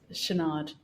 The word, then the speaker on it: Chouinard: How do you pronounce his surname? Yes, Chouinard.